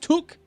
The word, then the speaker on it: toque: It's pronounced took. Took. Oh, a toque.